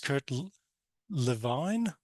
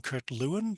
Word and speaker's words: Lewin: This is, I think it's pronounced Kurt Lewin. I used to call him Kurt Lewin, but anyway, it's a